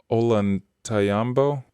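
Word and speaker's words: Ollantaytambo: How do you I've heard that one that pronounced Olantayambo, an Inca structure with giant steps, each step bigger than a person.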